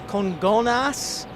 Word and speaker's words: Congonhas: So yeah, that was Herbals' pronunciation, but it's Congonhas and also Guarulhos.